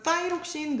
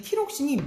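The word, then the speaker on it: thyroxine: 보통 영어로는 타이록신, 그래서 뜨 발음이 나는데 예전 보통 티록신이라고 얘기를 하는데 정말 중요하니까 한번 보자. 세포호흡을 촉진한다고 얘기를 했었다. 그래서 내 몸에 체온을 상승시키는 데 있어서 이 티록신이 매우 중요한 역할을 해.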